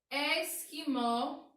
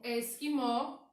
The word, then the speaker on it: esquimó: Aqui, esquimó. É como se nós não falássemos a letrinha U, não tivesse a letrinha U, esquimó.